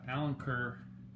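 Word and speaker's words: Alenquer: And Big Blue and the Allen Kerr, that's how you say it.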